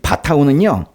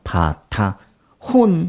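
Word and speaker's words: בִּטָּחוֹן: 이렇게 읽고, 여기 이제 바타, 요게 이제 히읗 그 발음이 나고, 이게 오예요, 오. 그리고 이 니은 발음이 나거든요. 바타혼. 그렇게 읽어요. 바타온, 바타흐.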